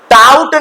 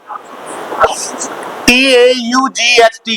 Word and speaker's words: taught: Teach means tout नहीं पढ़ोगे. Do not pronounce tout. T-A-U-G-H-T को tout नहीं पढ़िए, इसको पढ़िएगा taught.